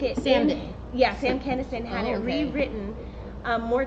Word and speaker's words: Kinison: Kinison.